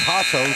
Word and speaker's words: Jasso: It says Jasso, but I had a guy at the junior college right there. His last name was Hasso, spelled the same way. So we'll call her Hasso here.